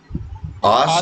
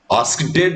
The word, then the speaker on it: asked: आस्क्ड नहीं बोलते हैं, AST। AST को क्या पढ़ोगे? वही शुद्ध प्रोनाउंसिएशन है। Asked. Asked, sir. Asked. ED भी नहीं बोलो, T बोलो, T AST AST asked।